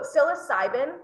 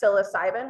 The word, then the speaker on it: psilocybin: up the biochemistry so psilocybin is the most common class of psychedelic um and that word is spelled uh it's the last word on that first paragraph psilocybin with a PSI um that is generally